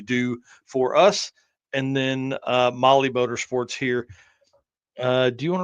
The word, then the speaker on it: Mahle: And for all our podcast listeners, Molly is spelled Mahle.